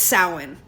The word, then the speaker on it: Samhain: on it but it's it's sow like cow not it's not so so it's samhain so i pronounce it